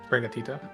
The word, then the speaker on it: Sprigatito: Sprigatito.